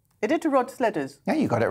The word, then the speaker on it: Iditarod: oh, God, I should have asked someone to pronounce this. Iditarod. Iditarod sledders.